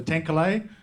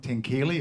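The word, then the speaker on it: Tenkile: belonging tinklea Conservation Alliance so 10klay is the pronounced way of saying it's not tenkili as we used to say as well tenkalei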